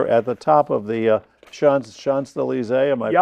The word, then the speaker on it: Champs-Élysées: This is an interesting statue here at the top of the Champs-Élysées. Am I pronouncing it right?